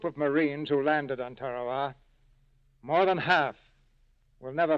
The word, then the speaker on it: Tarawa: in the mid-pacific called Tarawa that pronunciation incidentally is from the National Geographic Society that Island will never